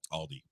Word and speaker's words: Aldi: the right way what aldi oh yeah yeah yeah michael's very insistent on not adding the s to things like uno and aldi wait wait you say